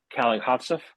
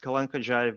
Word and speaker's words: Kalankhodzhaev: His name is Alexander Kalihads. He'll let me know if I pronounced that correctly.